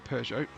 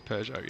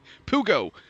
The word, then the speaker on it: Peugeot: I do love it when Americans try and pronounce Peugeot. Yeah, definitely. Pugo is what what I hear a lot of like Pugo wear. What is a Pugo?